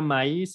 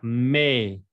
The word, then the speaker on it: mais: Y el me no se pronuncia maíz, ¿eh? No váyanse a comer un elote. Se pronuncia me.